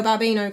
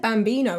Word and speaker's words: babbino: this one me omeo babbino caro da da i think i said bambino in the last video oh mio bambino caro